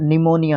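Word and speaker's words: pneumonia: हैं स्पेलिंग को और निमोनिया होता है ये ठीक है पी साइलेंट रहता है और फिर निमोनिया जो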